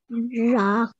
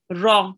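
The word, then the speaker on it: ر: Ra. Ra, well done. And make sure to round your mouth with ra as well, okay? Because you will have to pronounce it thickly a bit, okay?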